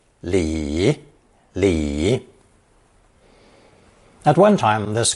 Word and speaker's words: 里: to the surrounding landscape it's also pronounced third tone Li Lee at one time